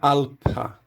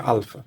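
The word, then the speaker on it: ἄλφα: A pronúncia antiga do nome da letra alfa seria alpa, com essa letra aqui, que a gente vai ver na sequência, que é o Fi, sendo pronunciada como PH. Então a gente transliteraria isso assim, alpa. Mas é também possível pronunciar no grego antigo, a pronúncia erasmiana, e muitos professores usam a pronúncia alfa também. E a pronúncia moderna é alfa.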